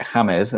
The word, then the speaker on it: James: apart from tilsley was calling james rodriguez james rodriguez and killsley got a load of stick for pronouncing it hamez as i guess it should be pronounced and now everyone calls